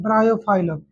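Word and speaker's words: Bryophyllum: Spelling बोलना तो समझ बी आर वाई आगे बी आर वाई ओ पी एच वाई एल एल यू एम ब्रायोफाइलम देख लो।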